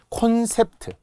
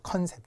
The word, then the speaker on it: 콘셉트: 콘셉트, 놀랍게 컨셉이라고 많이 하죠. 컨셉, 주제가 뭐야? 컨셉이 뭐야? 콘셉트, 프트크 계열의 으까지 적는 콘셉트. 레미콘, 콘서트, 콘택트.